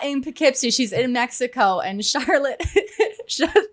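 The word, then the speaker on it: Poughkeepsie: on the East Coast, I think that Pikipsy is spelled P O U G H K E E P S I E or something like that. It's not intuitive.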